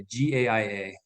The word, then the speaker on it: Gaia: I pronounce it Gaia, Gaia, Gaia.